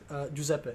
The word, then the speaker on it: Giuseppe: not the easiest thing to pronounce, but it's Giuseppe. Giuseppe. Giuseppe. Am I saying that correctly? That is correct. Say it one more time. Giuseppe.